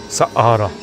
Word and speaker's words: Saqqara: We're here to discover the secrets of Saqqara. Saqqara. And yes, my wife had to correct me on that because she's the pro in pronunciation.